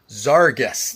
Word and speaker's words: Zarges: these zaras Cas cases zarus that's how you say it Zar and guest right zaras so um I got